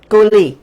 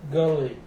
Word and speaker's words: Gwili: They have a Gwili River, a Gwili Railroad, and he told me there it's pronounced Gwili, Gwili, Gwili, Gully, yeah.